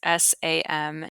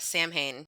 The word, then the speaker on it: Samhain: say this for a long time because it's Samhain. Yeah, you thought Samhain. You're like, Yeah. what is this? Very, very American of me, right? Yeah, salmon.